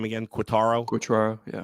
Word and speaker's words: Quatraro: uh how do you pronounce his name again quaro quaro yeah quatraro I always forget how to pronounce his name I would vote for him